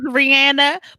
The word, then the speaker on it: Rihanna: That's how you're supposed to pronounce it. That's how you're supposed to say her name. Her name is Rihanna, but the way you said it though, ooh, child.